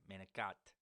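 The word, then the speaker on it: manicotti: Fancy foods like lasagna, manicat. You know, I used to be from New York. I say it like that.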